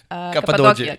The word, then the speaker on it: Cappadocia: Cappadocia.